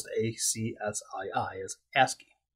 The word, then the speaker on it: ASCII: first coming out called ascii that's how you pronounce the a-c-s-i-i is ascii it's an acronym that i forget what it